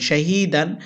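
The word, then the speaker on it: شهيدا: দাল আলিফ দুই যাবর দান শাহিদান, এখানে আমরা অকফ করব। অকফ করলে দালে এক আলিফ টানতে হবে, উচ্চারণ হবে শাহিদা।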